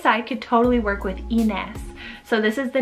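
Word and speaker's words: Inez: a lot of zeds they more so pronounce it as like an s whereas in english some people might pronounce this as like innis and this one means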